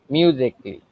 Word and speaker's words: musically: A silent when it becomes before LLY.